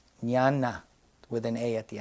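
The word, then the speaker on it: jhāna: form absorptions now you've heard the word nana it's spelled in English JH a j h a n a n Nana with an a at the end I'm sorry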